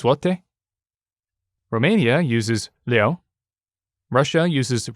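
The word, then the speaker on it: złoty: And that I actually did look up because it's spelled like Z-L with a small line through it, O-T-Y. But apparently that's zloty.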